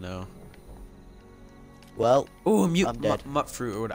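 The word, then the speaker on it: mutfruit: Mutt fruit. Or what, how do you even pronounce this? Mute fruit or mutt fruit? I said mute fruit. All right. Because it's mutated fruit.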